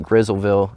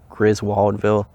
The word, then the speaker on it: Griswoldville: griswoldville crit let's see they pronounce it grizzleville around here but it's pronounced griswoldville but anyway it's near macon georgia and they started producing them in around 1862.